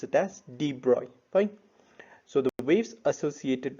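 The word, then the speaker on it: de Broglie: particles in motion and are called mata or d broccoli waves see you don't pronounce it d broccoli we will pronounce it as debroy fine so the waves associated with the material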